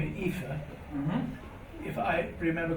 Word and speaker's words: Aoife: It's Aoife. Maybe the thing is an E at the end. In some situations is pronounced ye, like granye.